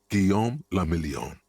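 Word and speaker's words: Guillaume Le Million: Gom Lamelon. If it doesn't rhyme, you're not pronouncing it right.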